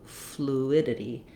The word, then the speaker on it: fluidity: So while this one said U, humidity, this one just says oo, fluidity. So it is also how we say the word flu, or you could write it this way, just the oo sound, no glide, fluidity. So my main stress is going to be on my id, and then I'm just going to have my idity, idity, ending again, fluidity.